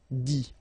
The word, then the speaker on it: dit: Remember, you put this T, you don't pronounce it. Écrit, dit, all right?